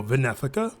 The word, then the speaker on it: Wenefica: found interesting is um the W's pronounced with a V so Vena and not necessarily V just thought i' throw